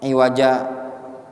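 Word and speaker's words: عِوَجًا: iwaja dia ee dia bacanya iwaja ya dia enggak ditanwin dia ya iwaja gitu ya qayyima kemudian sebenarnya apa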